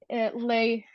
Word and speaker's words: Lay: Lay. I'm sorry. I can't. Thank you. Yeah, I'm here. How do you say your yeah, name? it's a Lay. It's a French name.